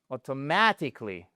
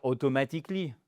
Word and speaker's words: automatically: Voyez, c'est quand même mieux que dire automatically parce que là what sorry automatically. Oh automatically là il répète et vous dites mais c'est exactement ce que je viens de dire. Non, sans doute pas parce que vous avez peut-être ou j'imagine que vous avez si vous dites automatically manqué l'accentonique tout court ou alors vous l'avez mis à la mauvaise place.